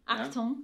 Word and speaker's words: Achtung: the playgrounds, and many of you mentioned the Achtung, is that how you pronounce it? Achtung. Achtung.